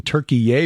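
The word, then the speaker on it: Türkiye: our trip to Turkey I'm gonna have to get used to saying turkey yay because that is the official official name now according to the United Nations the Turks want us to pronounce it their way and it's their country so well enough but first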